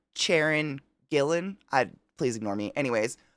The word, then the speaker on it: Gillan: yeah he's hilarious Karen gyllen in jamanji is just or is it gyllen Gillan it's Gillan did I just say